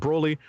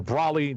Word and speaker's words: Broly: It's an 8-minute film featuring an intense battle between Dragon Ball mainstays, including Goku and Broly, or Brawly, depending on who you are and how you pronounce it.